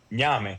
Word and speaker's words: ñame: Ñame. Spell it. Ñame. The N with the accent mark on top, A-M-E, like name, but with the gives you the accent mark.